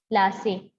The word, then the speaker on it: Plassey: सो नाउ ये पलाशी term था, पलाशी को जो एंग्लिशाइज्ड प्रोनाउंसिएशन था, जो इंग्लिश थे, ठीक है, ब्रिटिशर्स थे, उनकी जो प्रोनाउंसिएशन थी वो ऐसी थी, पलाशी को उन्होंने बोला था प्लासे, ओके।